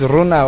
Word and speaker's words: Renao: I keep on pronouncing the incorrect way. It's RENAO. I think it's behind us. RENAO. It's Mandarin Chinese.